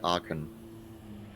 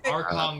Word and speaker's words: Arkan: Also, the champion's name is spelled like Archon. Yeah, Arkan. Arkan. Oh, K-A-N. Okay. Yeah, it's Australian accent. Sorry. Well, that's why I was confused. I'm like, Archon the Cruel.